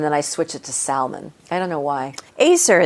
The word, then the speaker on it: Salman: How do you say your last name? Salman. Ayser Salman is back. I say Salman.